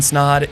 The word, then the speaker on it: Snod: My name is Snod. It rhymes with odd, and you're listening and watching the Rhymes with Odd podcast, the place for all things business, self-improvement, and having fun.